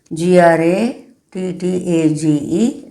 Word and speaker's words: grattage: g r a t t a g e, that is the spelling, but pronounce as grattage in the next class.